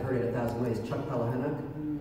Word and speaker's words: Palahniuk: I'm going to say his name wrong because I've heard it 1,000 ways. Chuck Palahniuk. Palahniuk, thank you.